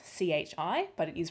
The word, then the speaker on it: chi: greek chi symbol and as you can see it's spelt c-h-i but it is pronounced chi just to get